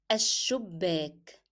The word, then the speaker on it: الشباك: In Arabic, it means ash-shubbak. Ash-shubbak. So again, I moved from alif to sheen and I stressed on sheen.